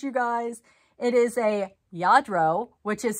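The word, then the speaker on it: Lladró: guys it is a yadro which is spelled r l-l-a-d-r-o okay so um it does not look like it sounds yadro i believe is how you pronounce it and their horses galloping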